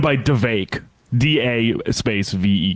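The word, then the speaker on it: Vivek: been doing for decad my name is V it rhymes with cake I wonder if RFK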